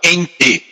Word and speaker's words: ente: filosófico que é chamado ente. Ente é E-N-T-E, ente, eu estou falando ente, para não falar ente, né? É a maneira da gente pronunciar o E aí como I.